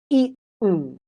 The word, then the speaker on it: eaten: E a t n that t is a stop eaten. So, I have eaten lunch. There's no T in there, right? And then one more sound that T can make is a D sound.